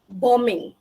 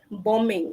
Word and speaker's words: bombing: these are some examples silent B it's bombing silent BK bombing instead of bombing okay climbing any not